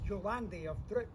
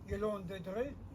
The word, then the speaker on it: Yolande de Dreux: He marries a beautiful young French lass called the Countess Yolande de Dreux. Okay? I used to call her the Countess Yolande of Dreux, but that's just how it's spelled, not how you're supposed to pronounce it,